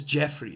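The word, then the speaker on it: Geoffrey: G-O-F-F-R-E-R-E-Y is Jeffrey. That's how you say it.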